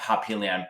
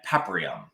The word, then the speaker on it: Paprium: Or not Papillion, Paprium. I always say that name wrong.